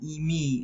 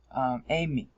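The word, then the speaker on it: εἰμί: It's not "imi," it's "ime." "Imi," "ime," "amy." "Amy" is how it should be pronounced.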